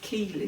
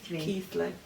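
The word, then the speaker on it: Keighley: say it properly today because the g and the h you'd think it was keeley but it's not it's keith keith keithley in west yorkshire i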